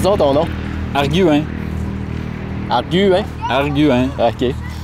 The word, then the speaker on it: Arguin: Arguin. Arguin? Arguin. OK. Les gens, même quand je dis arguin, là, les gens disent OK, argoin, OK, arguin.